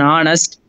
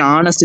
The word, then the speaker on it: honest: the slide um yes though H is consonant in words like her honor and honest the letter H is silent so we use the